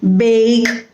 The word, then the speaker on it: bake: so sometimes you know you must have heard people say beg or lack or shake or get but that is a wrong pronunciation you have to say bake or lake or shake